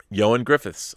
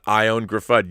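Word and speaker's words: Ioan Gruffudd: to say joann griffiths i didn't know that johan griffiths all right not graffad not i own graffit joann griffiths that's good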